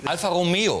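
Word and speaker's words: Alfa Romeo: Ja, mit Betonung auf E. Alpha Romeo.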